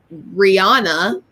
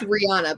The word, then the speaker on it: Rihanna: It's Rihanna. I said, no, it's not. I know that's your name and all, but it's not Rihanna to me. It's Rihanna. But sure enough, Rihanna. That's how she pronounced it. So I'm assuming that's the way it's pronounced because it's her name.